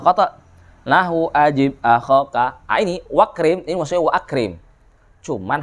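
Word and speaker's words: وَأَكْرِمْ: Cuman hamzahnya dihilangkan di situ, enggak diucapkan kan, enggak kita bilang wa akrim kan, wakrim.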